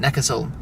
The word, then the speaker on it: Neckarsulm: Neckarsulm. How do you pronounce it? Neckarsulm. There we go, from a German, Neckarsulm. That's how you pronounce the name of this place.